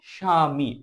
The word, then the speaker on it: স্বামী: ঠিক সেভাবে দেখো, স্বামী শয় ব, এখানে বয়ের কোনো উচ্চারণ হয়নি।